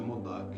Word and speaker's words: Modak: Uns pronunciam Modak, já vi Modak com Uja, mas o que eu mais vejo é Modak, né? Com M-O-D-H-A-K, Modak, né? O que eu mais vejo nos vários livros e tudo mais.